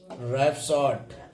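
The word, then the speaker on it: rhapsody: ठीक है, शुरू में आर एच हो तो एच का उच्चारण नहीं होता, यानी शुरू में अगर तुम्हारी आर एच हो गए तो एच तुम्हारी कहा रहेगी, साइलेंट। रैपसॉड, रिदम, तो इनमें कहा रही तुम्हारी एच साइलेंट रहेगी, एच साइलेंट रहेगी।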